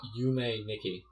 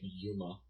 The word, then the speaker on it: Yume Nikki: Oh, Yume Nikki. Yeah, okay. That's what do you think I was saying? You were pronouncing it Yuma. Whatever. And it was one word.